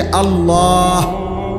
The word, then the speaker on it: আল্লাহ: শেষে আল্লাহ। শেষে একটা গোল হা আছে ছোট হা।